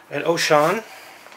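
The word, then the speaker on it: Wouxun: It looks like an Oshan. That's how you pronounce it.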